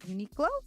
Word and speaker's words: Uniqlo: That the team has agreed for a sponsorship deal with Japanese clothing brand, I hope I'm saying it right, Uniqlo.